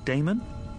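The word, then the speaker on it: Daemon: says Professor a d-a-e-m-o-n how do you pronounce that Damon if you preferred and this address I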